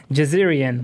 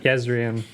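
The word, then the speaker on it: Jezrien: I was interested in Jeerian." What was his name? Is that Is that right? Yzrian. Jezerian. I don't know how to pronounce Yzrian.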